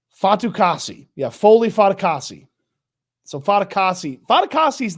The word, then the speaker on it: Fatukasi: I'm going to go get the pronunciation right. Fatukasi.